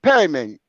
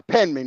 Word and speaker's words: Penman: No, you called my name wrong. You said Perryman. I'm not Perryman.